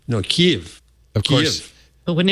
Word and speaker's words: Kyiv: Kyiv. It was reduced to one syllable, so Kyiv. No, Kiev.